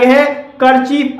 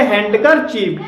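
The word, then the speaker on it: handkerchief: तो इसमें हैंड अल है कर चीफ अलग है अगर इसे दोनों को एक साथ मिलाकर बोलेंगे तो इसे हैंकर चीफ बोलेंगे ना कि इसे हैंड करर चीफ तो ऐसे शब्दों में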